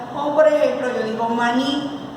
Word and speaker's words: maní: por ejemplo yo digo maní, maní su sílaba tónica en la última sílaba.